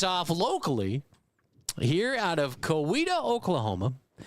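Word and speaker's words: Coweta: But first, we lead things off locally here out of Kawita, Oklahoma. I'm glad you could pronounce that correctly. I was going to say Kawetta, but that's weird.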